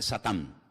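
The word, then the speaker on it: שטן: que viene del hebreo en hebreo no se dice Satanás dice satán que significa adversario y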